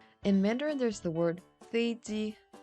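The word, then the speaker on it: 飞机: In Korean, it's easy to say peiji because there's no F sound in Korean. But we can just go with the English pronunciation and say feiji with the F sound instead of a P sound.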